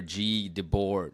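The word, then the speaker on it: Guy Debord: know it's like it's it's spelled guy in English, but uh it's I think in French it's like Gee or G Debor, you know.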